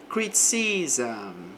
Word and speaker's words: criticism: Criticism. Entre o S e o M vai ter um som de A, né, um som de vogal aqui.